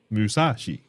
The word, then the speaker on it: Musashi: a bit loud also repeat after me moo moo sa saah shei she Musashi yes what's wrong with